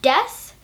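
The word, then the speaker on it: です: which is usually pronounced des and Desu isn't wrong it's just that the U at the end of the word is usually softened so you hardly can hear it at all so it sounds like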